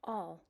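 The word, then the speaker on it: awl: spelled a WL and it's pronounced all and I know of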